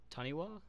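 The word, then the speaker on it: Taniwha: We got the breakout Taniwa. That's how you pronounce it.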